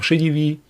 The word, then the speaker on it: Šedivý: my name is invalid shadyvi is just a very normal name from czechoslovakia which means someone who is gray-haired this is how you pronounce it correctly and it is easy